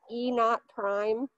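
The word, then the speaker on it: E°′: uh but basically this e it's called it's pronounced e naught prime okay that's a measure of uh how badly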